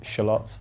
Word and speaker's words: shallots: Yes, we pronounce it shallots. That's the correct way to pronounce it. You guys are wrong.